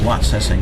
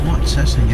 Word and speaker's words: Watsessing: And here's Watsessing Avenue. We're now arriving at Watsessing Avenue. This is Watsessing Avenue. For some reason, they're not pronouncing the T in Watsessing.